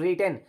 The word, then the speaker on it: written: You have रिटन, रिटन में देख लीजिए W को नहीं पढ़ेंगे, W साइलेंट है।